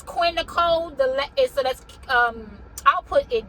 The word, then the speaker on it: Nicole: And just for FYI purposes, the E on the end of Nicole is silent. Yes, I know you see it, but it is silent, and it is there